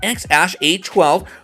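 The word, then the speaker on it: X Æ A-12: Rogan Experience Podcast that X is spoken like the letter while the AE is pronounced like Ash bbx has appeared with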